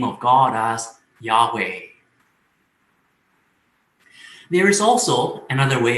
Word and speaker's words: Yahweh: to pronounce the name the tradition has been to add the vowels a and e so we pronounce the name of god as yahweh there is also another